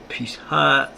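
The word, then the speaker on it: Pesach: Pisha is now how the Jews pronounce the name of Passover, maybe that's Pisha, is how the Jews pronounce the name of Passover in Hebrew even today.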